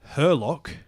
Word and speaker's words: Harlock: the thing as well it's called Captain Harlock and they're in English but in Japanese it's herlock and then they later changed the series in English to be herlock so the first like